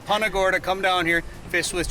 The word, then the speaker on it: Punta Gorda: We've been saying Punta Gorda. Punta Gorda, come down here, fish with Jay.